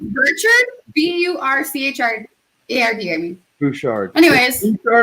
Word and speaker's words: Bouchard: I think it's Bouchard with an R. Bouchard. It's Burchard.